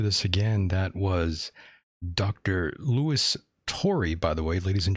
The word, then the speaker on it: Louis Turi: Luis Turi, as they say down south. Luis Turi. That's the way they would say it down south, but his name is Louis Turi. For those who were wondering, that is the proper pronunciation here.